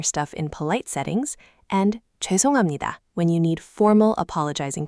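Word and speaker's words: 죄송합니다: Think of it like the jway sound. Your lips round slightly. Jway. Try just that first syllable. Jwe. Jwe. Jwesonghamnida.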